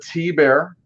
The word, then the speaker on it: Thibert: But this is a Art T-Bear. It's spelled Thibert, Thibert, but T-Bear.